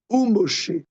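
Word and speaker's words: וּמֹשֶׁה: Ou Moshe.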